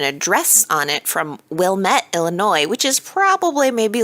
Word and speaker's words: Illinois: she said Illinois, because the word Illinois has an S on the end, and people tend to pronounce that S, and that drives me crazy. Illinois.